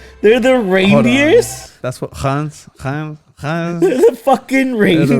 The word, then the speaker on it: Rennes: Rennes. Hans. Not German, it's French.